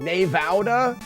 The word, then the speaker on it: Nevada: But having been there, there's only one way to correctly pronounce Nevada, and that's Nevada.